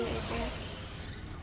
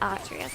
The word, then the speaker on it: Atreus: Yes, thank you, I can see you, Adrius. I know his name is Atreus, and I always say it wrong, I always think about that.